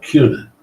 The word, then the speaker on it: Kuna: They pronounce it with a Q, Kuna.